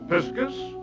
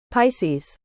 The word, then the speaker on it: Pisces: Piscus or fishes, wait, have I been pronouncing Pisces wrong? this whole time. Hold up. Pisces. No, I think it's just they pronounced it in the film wrong.